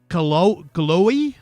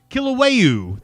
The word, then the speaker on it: Kilauea: This is at the Kaloe? I'm probably saying it wrong.